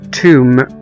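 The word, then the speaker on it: tomb: وزي كمان كلمة توم، T-O-M-B، توم، توم أو قبر، طبعا هنا ما نطقناش حرف البي.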